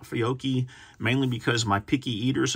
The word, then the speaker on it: Fiocchi: I tend to like Fiocchi mainly because my picky eaters, and this one's not a picky eater.